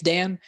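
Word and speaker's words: Dayn: going through and uh dan perry i think is how you say his name he spells it d-a-y-n uh i'm i think it's i think it's dan but he uh dan perry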